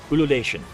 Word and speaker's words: Ululation: So, he's going to do a skill called I can't pronounce it. Ululation. Ululation.